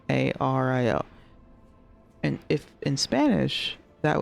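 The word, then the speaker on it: Illario: and it's pronounced Ario in Italian Double L is a common thing and it still pronounced l so an example of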